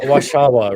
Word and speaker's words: Warszawa: Warszawa, right? Am I saying it right? Warszawa.